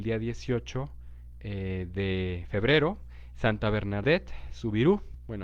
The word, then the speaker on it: Bernadette Soubirous: 18 de febrero, Santa Bernadette Soubirous, bueno, así se pronuncia en francés el nombre, la conocemos más como Santa Bernardita, Bernardita de Francia.